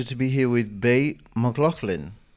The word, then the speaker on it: McLaughlin: It's a real pleasure to be here with Bay McLaughlin. Did I say it correctly? Thanks so much. That's right. You got it.